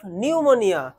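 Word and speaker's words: pneumonia: The narrator's father died of appendicitis, তা তো নয়, false, he died of নিউমোনিয়া, নিউমোনিয়াতে ভালো করে ফলো করবে, প্রথমে আছে পি, হ্যাঁ উচ্চারণটা এখানে পিটা সাইলেন্স থাকবে। After his father's death the narrator along with his other family members moved to Llandaff.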